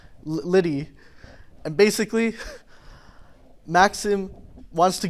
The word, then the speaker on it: Lydie: Lydie, Lydie. It's like French or something. Lydie.